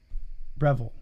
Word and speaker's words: Breville: picture of our brand new how did you pronounce it breville revel breville no it's it's a b b-r-e breville i think no i said revelation oh you